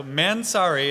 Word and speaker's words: Mansory: All right, so Mansory, and that's actually how it's pronounced, is man. The pause, I think, is optional, then sorry.